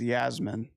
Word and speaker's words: Yasmin: Oh, this character I think it's Yasmin. Just like Princess Jasmine, but it's just Yasmin.